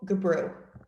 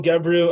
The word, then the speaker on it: Gebrew: Calling Gabrew. Thank you very much, and thank you for pronouncing my last name correctly. Gebrew, I'm the Director of